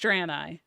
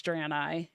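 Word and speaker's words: Draenei: side note but talking about drani it is pronounced drani and if anybody has questions on how to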